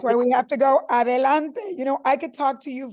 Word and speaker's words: adelante: For those of you that don't speak Spanish, they're watching, it's like, you could say adelante.